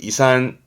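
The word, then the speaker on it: 胃酸: 발음은 이산.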